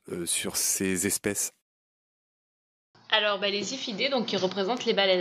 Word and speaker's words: Ziphiidae: à bec, qui s'appelle, c'est assez joli, les Ziphiidae. Ça s'écrit avec un Z, Z-I-P-H-2-I-D-A-E, les Ziphiidae, baleines à bec.